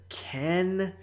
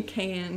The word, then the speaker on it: Can: The director is Ken Evrenol. Literally Can is his name. Yeah, C-A-N.